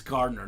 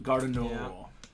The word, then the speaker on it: Garder: baby NFC South christe I found out it's Garder not gardo if she allows me I'll